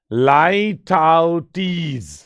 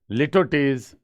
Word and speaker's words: litotes: अब लाइटोटीज, पहले तो इसका प्रोनाउंसिएशन इंपॉर्टेंट है, लाइटोटीज, ओके। ऐसे नहीं पढ़ना है लिटोटीज, ये याद रखें, लाइटोटीज, लाई फोनेटिकली लिखे हैं तो लाई टाउ और टीज, लाइटोटीज, ठीक है।